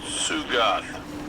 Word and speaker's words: Sugoth: We have tracking on that knight, critter named Sugoth. T is silent.